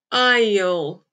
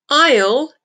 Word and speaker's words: I'll: difficult at the beginning don't give up i'll iel aisle is the contraction of i will keep repeating